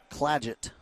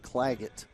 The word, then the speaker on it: Claggett: need to correct myself cladget not clag it soft G for Michaela 13 Point cushion for